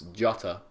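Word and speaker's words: Jota: the villa player well I would pronounce this jata they're both different like the Spanish is hotter oh shut up yeah but he's Portuguese and he's bored news unfortunately announced to Jay like Josie Mourinho yeah so less of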